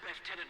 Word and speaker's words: lieutenant: Lieutenant Miller. They say lieutenant. I understand it's a British thing.